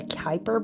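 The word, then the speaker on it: Kuiper: the um dude I don't know how to spell that the Kyper belt do you spell it with a C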